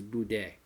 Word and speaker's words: boudin: I pronounced it every which way. I think we called it Boudin, Boudin, everything, but I think the correct pronunciation is Boudin.